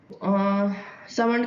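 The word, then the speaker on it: Salmond: सो Austin नहीं होगा सामंड का हमने पढ़ा था इसमें इनके वाले में एल साइलेंट है मेरे मुंह से बार-बार ल निकल जाता है ठीक है सामंड था सामंड वाले में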